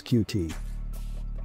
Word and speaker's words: Qt: So what is Qt? Well, according to Wikipedia, Qt, pronounced as Qt, is a widget toolkit for